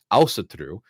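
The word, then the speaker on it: ásatrú: i know more about the term asatru as a modern term and i also found out that there is an icelandic version of it which is pronounced with the accent ausatru and also through is nothing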